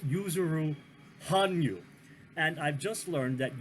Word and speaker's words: Yuzuru Hanyu: mispronounced one other name yuzuru Hanyu is what I said but it's user room Han you and I've just learned